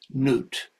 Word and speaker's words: Nut: Synthesizing these two is noot. By the way, modern uh uh uh Egyptologists spell it nut.